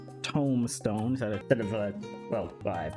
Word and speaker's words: Tomestone: I'm guessing for the way I say Tomestone instead of well, I'm saying it right now. I didn't say Tombstone.